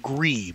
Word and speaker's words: GRIS: I think it's called GRI, but it's spelled G-R-I-S.